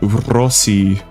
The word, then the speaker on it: Rossi: Rossi like rolling my Rs whenever I say her name. Rossi.